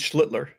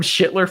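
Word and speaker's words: Schlittler: It's It's Slitler. Remember Schlitler? Yeah, I called him I called him Schler for an entire show and and thought I was correct.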